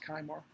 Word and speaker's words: Kejmar: Now, I have done and I believe it's pronounced Kymar, and a family member will correct me if it's not.